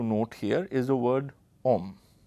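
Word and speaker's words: homme: here is the word om right note the spelling it has an h which is silent now in french the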